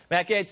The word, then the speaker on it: Gaetz: It's like open gates, Jesse. Right. Easy to remember. All right. Matt Gaetz, there he is, everybody.